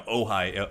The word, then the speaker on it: Ojai: No, Ojai. It's spelled O-J-A-I.